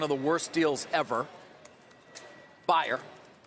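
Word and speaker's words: Bayer: the worst deals ever buyer the German ba ye are that's how we pronounce it not like the aspirin of course they purchased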